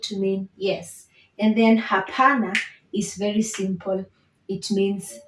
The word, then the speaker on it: hapana: And then hapana is very simple. It means no. Hapana. So that one is very easy to pronounce. You just say ha-pa-na. Hapana.